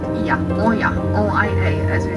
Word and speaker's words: Oia: This settlement is called Oia, O-I-A, as we spell it.